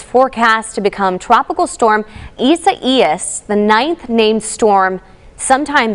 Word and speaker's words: Isaias: Isaias? Yes, you did pronounce it correct. It is Isaias, which is a Spanish name, and it's going to